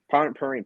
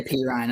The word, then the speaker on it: Perine: And I think if, how do you say it? Perrine? Sanjay Perine. Perrine, perfect. Sanjay Some people Perrine. say P. Ryan. I don't know. P. Ryan Perrine, same difference.